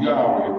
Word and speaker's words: Yahweh: It is pronounced Yahweh by the Hebrew speaking people.